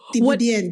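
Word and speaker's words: Thiéboudienne: How do they pronounce it? Thibodien.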